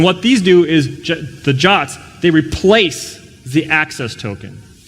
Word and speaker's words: JWT: everybody else okay so JSON web tokens they're pronounced jot I don't know why JWT does not spell jot to me but maybe I'm not a security spec crater yet maybe one day I can make these cool things I guess the domain JWT was taken or something anyway so Jacque that's that's the way it's pronounced it's a fancy JSON